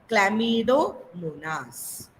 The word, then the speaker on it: Chlamydomonas: Chlamydomonas. Okay, say behind me, students. Chlamydomonas. Lamidomonas.